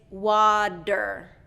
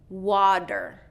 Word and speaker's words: water: So the rule is when a T is surrounded by vowels, native English speakers pronounce it as a D. So for example, water is not water, it's water, water.